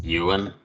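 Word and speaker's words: Ewan: together um and right Awin is that how you pronounce it Yuan Yuan yeah e w an Yan uh at this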